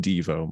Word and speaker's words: Devo: Yes, it's pronounced Devo, Mike.